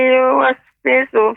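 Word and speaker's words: يُوَسْوِسُ: Allazi yuwaswis Allazi yuwaswisu fi sudurin nas. Ya, yuwaswisu, Nek, pengucapannya dia lebih banyak ya, suaranya tajam.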